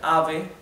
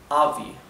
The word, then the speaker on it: ave: So usually in English we would pronounce this ave, avi, right?